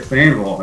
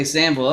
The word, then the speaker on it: Sainval: Sainval? Is that how you pronounce it? That's pretty good. Sainval, yeah. Oh, okay, Sainval.